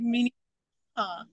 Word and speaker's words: Minnehaha: My favorite waterfall is the Minnehaha Falls. How do I say that? Minnehaha. Minnehaha? Yeah, it's like Minnehaha.